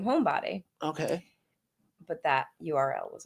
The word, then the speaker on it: Hombadi: only one who probably has the accent on the o that throws me off homebody home it is on